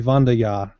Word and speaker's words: Wanderjahr: But I do find it funny the way you guys keep saying it, because the way the name is spelled, it's clearly supposed to be a German pronunciation. It'd be Wanderjahr. Yes, but I'm not German, so You don't count.